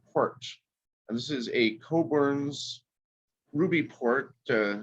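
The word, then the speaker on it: Cockburn's: and this is a coburn's ruby port uh some of those port names are little the porthouse names little difficult to pronounce but it's coburn not cockburn this is their fine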